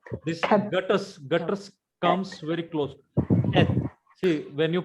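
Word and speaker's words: Heth: When you say Keth, so it is like a clearing of your throat. Cat. This gutters comes very close. Keth.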